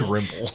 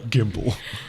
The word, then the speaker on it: Gimble: gimbal please do that your name gimble Grimble Grimble he got it wrong that's gimble he can't pronounce the